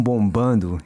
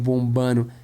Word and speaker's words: bombando: Coração bombando. It's really common in certain parts of Brazil to drop that D, especially in the state of Minas Gerais.